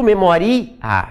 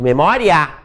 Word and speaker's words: memória: Eu não digo memoria, eu digo memória.